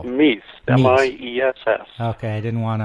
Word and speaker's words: Miess: Your last name is pronounced how? Miess, M-I-E-S-S.